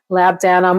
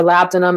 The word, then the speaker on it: labdanum: So usually the notes are vanilla, labdanum or labdanum as I pronounce it, and benzoin are typically the three that are blended the most.